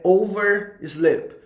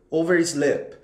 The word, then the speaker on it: oversleep: Gente, a pronúncia correta é overslip, overslip, overslip. Do jeito que você está vendo aí escrito tanto em inglês quanto no alfabeto fonético internacional.